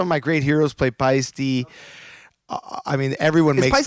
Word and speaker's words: Paiste: It's Paiste, not paste.